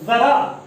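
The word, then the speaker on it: ज़रा: का मतलब होता है बुढ़ापा, और यहाँ पर जरा, इस जरा का मतलब होगा थोड़ा।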